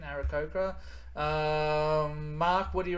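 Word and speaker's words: Aarakocra: grace what do you reckon uh macy um arakurka uh yeah no that's that's that's the correct pronunciation arakoka um mark what do you reckon my first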